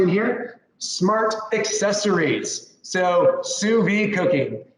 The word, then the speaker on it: sous vide: So sous vide cooking. It's French again. It's another French word I know. I can spell it actually.